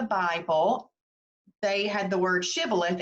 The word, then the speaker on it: shibboleth: that video for it for those details but shibboleth is the actual pronunciation but we call it shabolith and uh